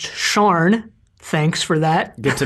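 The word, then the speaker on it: Siân: SIAN is pronounced Sharn.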